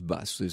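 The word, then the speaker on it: Batz: c'est le baron de basse alors qui est ici s'écrie béate et z qui est imé on prononce basse partie de ces curiosités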